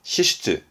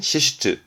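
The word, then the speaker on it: 支出: 발음은 시시트, 지출은 시시트, 시시트.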